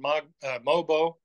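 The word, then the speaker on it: Mogbo: Jonathan Mobo, I keep trying to mispronounce his name. The G is silent.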